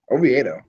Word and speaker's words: Oviedo: Oviedo.